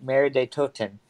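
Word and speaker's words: Mauer der Toten: Mare de Toten.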